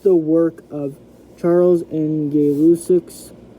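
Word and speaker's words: Gay-Lussac: work of Charles and gay lucic's that's actually how you say his name gay Lucid to establish and so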